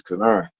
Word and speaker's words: Kani: I was like, oh, okay, I heard it pronounced right. And I was like, okay, it's Kani.